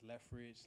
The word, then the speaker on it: Lefeged: I don't know where it came from, what's going on, but it's Lefeged.